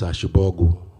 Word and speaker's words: Ashibogu: The surname is Ashibogu. That's the correct pronunciation of the name.